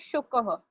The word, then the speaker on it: शुकः: Rushil, the pronunciation for parrot is shukah.